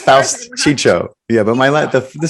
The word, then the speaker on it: Faust: Well, it's Faust. It's Faust Chicho.